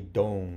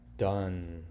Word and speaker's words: done: Don, but we don't say don, right? We say done. That's why you have to memorize it.